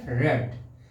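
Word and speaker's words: read: रेड की third form क्या होती है, रेड। केवल पढ़ने में अंतर होता है, इसे स्पेलिंग सेम रहती है।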